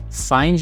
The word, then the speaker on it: Phind: acessar esse site com ph e find se fala mas se escreve P com H ela nos diz que